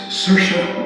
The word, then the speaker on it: Saoirse: So please, remember, it's Saoirse Ronan, not She Sells Seashells Ronan.